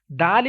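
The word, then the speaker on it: دال: letter is done and dal is thin letter okay you will have to pronounce it with thin voice but though this mustard that's why you will have to pronounce this letter with thicker voice if you read god with thicker voice and dal with invoice then you will be able to make difference between these letters revise after me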